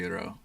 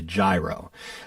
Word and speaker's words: gyro: I had what I call as a gyro, but I was corrected. And how do you pronounce that word, I should say? Gyro. Gyro. Gyro. It's like an E.